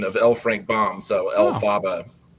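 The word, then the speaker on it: Elphaba: So it's like a kind of a phonetic pronunciation of LFrank Bomb. So El Faba.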